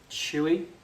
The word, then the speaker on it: Shoei: Built wells out Chewy.